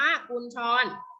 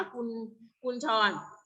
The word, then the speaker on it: กุญชร: 5 คะแนน นะ จ๊ะ กุญชร อ่าน ว่า กุญชร อย่าง เมื่อ คุณ แจน ให้ ครู นะ นี่ อัน นี้ อ่าน ว่า คุณ คุณ ชร แล้ว มี นะ คุณ